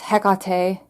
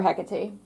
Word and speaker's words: Hecate: I have or I'm sorry, I know I pronounce her name incorrectly. It's Hecate, you know? But I when I'm talking casually, I just call her Hecate.